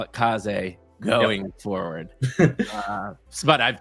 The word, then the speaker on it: Kaze: I've been calling it K's. I know it's Kaz American version of me pronouncing K's.